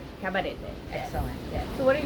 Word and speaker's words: Cabarete: Cabarete.